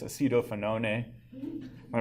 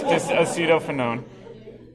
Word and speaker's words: acetophenone: had a student that kept on pronouncing this acetophenone a it made me laugh it sounds very Italian when you say it that way you see you don't fit no name no it's acetophenone all right and then